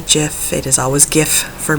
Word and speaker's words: gif: caught naturally aluminum gif I know the Creator calls it a jiff I will never call it a jiff it is always gift